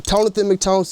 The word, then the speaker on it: Tonathan McTonson: I'm like, nigga, Tonathan McTonson. It's like Jonathan McJohnson, you know, like Tone.